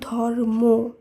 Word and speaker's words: ধর্ম: হবে শব্দের শেষে একইভাবে ধর্ম নয় শব্দটির উচ্চারণ হবে ধর্ম এই সূত্রেই শক্ত অনন্ত